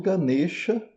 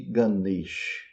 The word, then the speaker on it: Ganesha: Então, eh, voltando a Shiva e Xiv ou Ganexa e Ganeix, qual que é a diferença principal? É a vogal final.